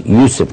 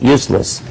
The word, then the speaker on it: Yusuf: introduction about my name my name is Yusuf can you say Yusuf Yusuf but you said it right the first time my wife been married to me all these years she still says useless but I wanted to